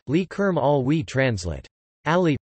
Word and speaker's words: Ali: Ali, pronounced Ali, the 15th of September